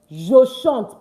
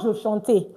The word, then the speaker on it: je chante: Je chante. Please, it's not je chanter. I beg. It's not je chanter. It's je chante. Why? Because the E at the end is not pronounced.